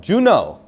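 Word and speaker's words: Juneau: know we say alaska i'm going to say it wrong juno is that how you say it okay our alaskan says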